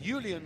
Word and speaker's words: Julian: Julian, I will call him respectfully, because that is how they pronounce his name in the native Netherlands.